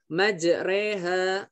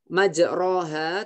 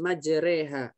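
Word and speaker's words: مجريها: halaman 18 dikit lagi majreha di Alquran secara tertulis roknya Fatah panjang majroha tetapi kita bacanya harus majreha sesuai kaidah uripnya ya atau muskilat nya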